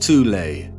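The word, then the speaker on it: Thule: secret society within Germany called the Thal Society sometimes alternatively pronounced tulle that had subactions within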